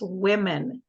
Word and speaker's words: women: But when it's more than one woman, it's pronounced women. And it ends in en.